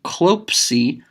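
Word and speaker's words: κλωψί: When klop, the stem, runs into C, pronounce those two together. Klopsi, you already have a consonant that makes a ps sound. That's psi. So when pi and sigma come together, they make psi.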